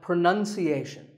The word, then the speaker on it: pronunciation: Well, we say pronounce, pronounced, and pronouncing, but pronunciation. There's no noun in this word. It's pronunciation.